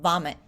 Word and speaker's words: vomit: You won't do it every time, but it'll just sort of retrain your mouth to do the V sound in English is a V sound, vomit.